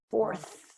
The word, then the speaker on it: fourth: So how do we pronounce that? Fourth. Fourth. Fourth. It's a hard one. Remember at the end, fourth.